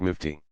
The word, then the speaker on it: mufti: In that capacity the scholar is called a mufti, pronounced mufti.